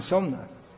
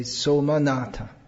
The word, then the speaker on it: Somanatha: Actually, in Sanskritam, you'd have to say Somanatha, not dropping the A.